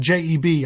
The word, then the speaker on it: J.E.B.: You had J.E.B. often pronounced as Jeb Stuart.